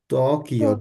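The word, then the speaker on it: Tóquio: হচ্ছে ওয়াশিংটন দেশে কি উচ্চারণ করবে ওয়াশিংটন তকিও তকিও টকিওর বানানটা দেখেন আর উচ্চারণটা দেখেন তকিও তকিও জাপান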